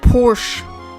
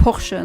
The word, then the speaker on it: Porsche: her dad's Porsche and it's not Porsche how Americans pronounce it's Porsche that's a cor correct pronunciation but anyway that's not the thing I'm talking about um getting distracted acted again.